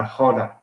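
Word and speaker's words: roda: the video which is participate in the hoda that's uh r o d a but they pronounce the r with like a little bit of a noise and i remember the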